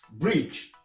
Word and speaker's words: bridge: La lettre D ne se prononce pas dans certains mots comme bridge. Bridge, on ne prononce pas la lettre D dedans.